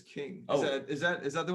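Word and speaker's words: Qing: album right now uh king is on the way but it's spelt q-i-n-g um so that's that's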